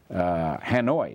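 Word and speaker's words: Hà Nội: Hanoi is 2 words, Ha-Noi.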